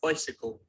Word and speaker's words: bicycle: But when we put a bi before that, it becomes Bicycle.